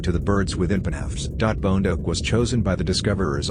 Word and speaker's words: bondoc: of Romanian folklore, while the specific epithet bondoc, pronounced like bondoc, meaning a squat, chubby individual, refers to the small, robust shape of the animal.